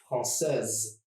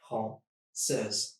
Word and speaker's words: française: And for the feminine, it would look like this. Française. Française. 1, 2. Just 2 syllables.